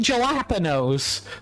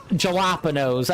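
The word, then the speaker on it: jalapeño: And I know I per purposely mis mispronounced uh jalapenos. I know it's jalapeno.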